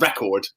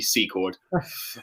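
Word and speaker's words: Secord: character's surname the whole time uh i've been pronouncing it like record but it's actually actually c chord um but i hope you've enjoyed my pronunciations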